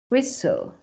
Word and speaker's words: whistle: listen carefully a accepts whistle fasten rle ballet Buffet G as you can see the t is not pronounced so it's really important